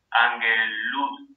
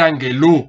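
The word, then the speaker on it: ἀγγέλου: Entonces, ¿cómo se pronunciaría el genitivo? Ángelos es el nominativo. Cuando lo vuelvo genitivo le coloco una omicron y una ypsilon. Luego, no puedo dejar el acento en alfa, lo paso hacia la epsilon y me quedaría... Angelu. Bravo, angelu. Y ya después tengo que determinar el artículo, hos.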